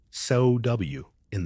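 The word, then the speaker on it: Samhain: We begin with Samhine, pronounced so w in the Celtic new year held at the end of October.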